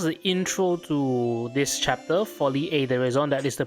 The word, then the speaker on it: Folie et Déraison: Folly Aison. That is the correct pronunciation apparently.